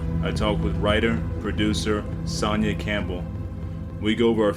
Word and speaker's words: Sonia: Sonia you got it rhymes with lasagna make sure you get